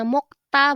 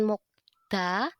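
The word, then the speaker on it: 먹다: ini mokta mokta Nah kenapa bacanya mokta bukan mokda ini juga udah Mimin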